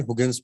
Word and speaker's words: Huygens: We pronounce it as like what? So many times I've told it's Huygens principle.